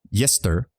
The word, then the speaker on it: Yester: The final clownster sounds like a sh sound. Yester. Oh, so that is a play on jester, but it's yester.